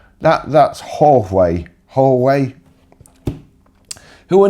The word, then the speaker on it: Huawei: Now, somebody told me how to pronounce this, and it's something like Weiwei, or Hoiwei, or I've forgotten how you pronounce it.